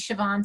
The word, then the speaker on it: Siobhan: Siobhan, am I saying it correctly? Yes, hi. Hi, everyone. My name is Siobhan.